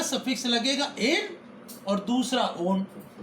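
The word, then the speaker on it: -one: तो इसका सफिक्स या अनुलग्न क्या होता है, ओन, ONE। अब इसमें स्पेलिंग पढ़ने की तो वन है, लेकिन इसको यहाँ पर ओन बोलेंगे क्योंकि एल्किल ग्रुप के साथ जुड़ेगा तो ओन कह के बोलेंगे इसको।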